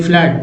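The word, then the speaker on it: flood: और double O का उच्चारण देखिए, जैसे एफ एल डब्ल्यू डी फ्लड, फ्लड में डबल ओ को आ बोलते हैं, है ना।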